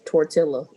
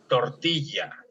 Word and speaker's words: tortilla: Now, anytime we have a double L in Spanish, we're going to treat it like a Y.